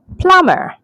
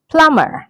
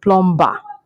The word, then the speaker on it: plumber: So this word is pronounced as plumber. Yes, so plumber, not plumber. The B is silent. We say plumber.